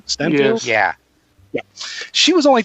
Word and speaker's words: Steinfeld: Steinfeld?